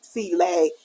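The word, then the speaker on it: filé: and everybody would think that but actually it's pronounced C lay they just didn't have the comma up here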